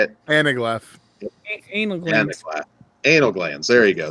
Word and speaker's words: anaglyph: Of course, the old, what is it, Analgraph? Is that how you say it? Anaglyph.